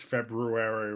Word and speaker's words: February: pretty sure correct is february right i i mean i'm starting to wonder now is the r silent typically because like i only ever really ever hear it february uh google tell us